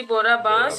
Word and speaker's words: बोराबास: हाँ जी, बोरा बांस। बोराबास। नाम प्रोनाउंसिएशन ठीक है ना? यही बोलते हैं ना बिल्कुल उसे? बिल्कुल बिल्कुल, यही बोलते हैं उसको।